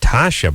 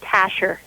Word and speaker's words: Tasha: I guess I said Tasha before. Did it get changed, or did I screw that up? Actually, no, you just pronounced it wrong. It's Tasher.